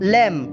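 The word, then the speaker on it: lamb: Silent letters such as एम बी इन अ लैम। जैसे कि एम बी के अंदर, लैम के अंदर जो है वो बी साइलेंट होता है और एम जो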